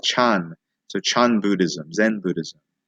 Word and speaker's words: Chan: the 6th century and Zen is actually the Japanese pronunciation of what in Chinese would be more like Chan so Chan Buddhism Zen